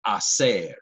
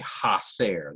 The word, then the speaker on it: hacer: pronounce Spanish letters so the letter H in Spanish is silent and you have a verb like hacer which means to do but many students tend to say hacer they pronounce the H